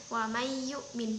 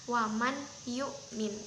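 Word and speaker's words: وَمَنْ يُؤْمِنُ: Dibacanya wam yukmin bukan waman yukmin. Itu cara membacanya itu salah.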